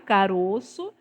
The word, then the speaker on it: caroço: que esse O é fechado, caroço, e quando vai para o plural, ó, caroços, tá? Então, caroço, caroços, ovo, ovos. O mais importante é você perceber que ele sofreu uma mudança no som, Que é, tá? Que ele mudou de som. Tava tá, no, tava é no isso mesmo. singular, tinha um som fechado. Uhum. Passou para o plural, o som dele ficou aberto, O tá?